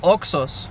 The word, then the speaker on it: Oxxo: stations that are around Mexico, and they're called Oxxos, right? O-X-X-O, that's how you spell it.